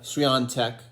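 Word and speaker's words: Świątek: Well, B2 and I just wanted to come on, congratulate Iga Swiatek. I think that's how you say her name. There's like an N sound in there, even though there's no N in the spelling.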